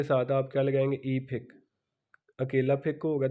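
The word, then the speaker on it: 이백: तो 200 आएगा तो फेक के साथ आप क्या लगाएंगे ई फेक, अकेला फेक होगा तो 100, 200 होगा तो ई फेक, 200 बन गया।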